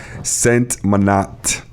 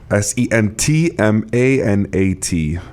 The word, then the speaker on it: Sentmanat: Sentmanat. Sentmanat. Exactly how it sounds.